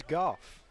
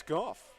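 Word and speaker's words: Gough: offers ball two for the man whose name is spelled g-o-u-g-h it's golf it's golf so I haven't been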